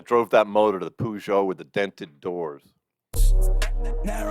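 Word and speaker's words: Peugeot: shop and uh so we actually had a pujo back in the day like that was not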